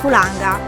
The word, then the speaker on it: Fulaga: Depuis trois semaines nous sommes ancrés ici : en Fulaga (prononcer Fulanga).